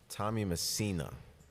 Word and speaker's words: Tommy Messina: Anthony Franciaso, Michelle Toriani, and Tommy Messini. Tommy Messina. I'm sorry, Tommy.